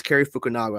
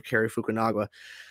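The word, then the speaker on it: Cary Fukunaga: directed by gary and it's carrie fukunaga i think i pronounced his name carrie fukunagawa but then he goes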